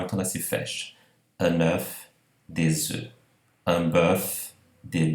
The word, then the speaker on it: œuf: Então, por exemplo, aqui o caso de un œuf, um ovo, o F pronunciado, e vejam, des œufs.